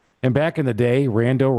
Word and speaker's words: Rando: And back in the day, Rando rhymes with Rambo.